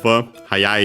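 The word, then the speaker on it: はやい: The accent should move. Hayai is accented. In its base form, dictionary form, is the accent is on the second to last mora.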